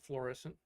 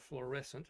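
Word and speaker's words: Florissant: just outside of St Louis a town called florescent uhhuh and a lot of people mispronounce it they call it fluorescent not fluorescent headquarters of McDonald that built the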